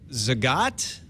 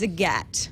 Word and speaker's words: Zagat: Well, you think of the cat. All right. And then you get it. You won't ever forget again. Google has acquired Zagat. And moving forward, Zagat will be the cornerstone of Google's local offering.